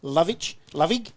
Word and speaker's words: Lovig: Running backs of Darlenberg and Lovig is the correct way to say. How's that? Yeah, Cam Lovick.